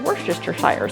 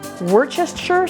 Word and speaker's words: Worcestershire: and they started laughing when she said Worcestershire sauce they're like what like isn't it just Worcestershire sauce us three syllables versus five I don't know I